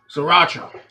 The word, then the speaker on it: sriracha: Sriracha.